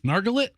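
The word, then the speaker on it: Nargolet: Nargolay? No, it's L-E-T is not let. In French, it's lay. So it's Nargolay. Oh, like the car. Is Chevrolet.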